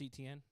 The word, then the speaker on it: Etienne: Travis Etienne.